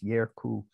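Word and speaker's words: երկու: way that we remember the word that in Armenian is spelled like this is actually pronounced with an initial y. If you recall from last week, so it's Yerku with a Y.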